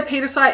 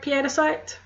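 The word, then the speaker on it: pietersite: If you say petersite, you're not wrong, but I prefer it piedicite because, you know, aforementioned Dutch mother killing.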